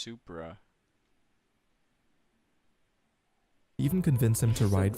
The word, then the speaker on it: Supra: it's it's it's called It's pronounced Supra even convince him to